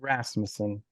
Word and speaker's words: Rasmussen: Rasmussen. It's got the U, but it's pronounced with the A.